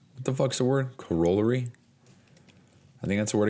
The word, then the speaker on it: corollary: Corollary? I think that's the word I came across earlier today. Corollary. That's how I was pronouncing it. So I came across a word earlier. It was Corollary.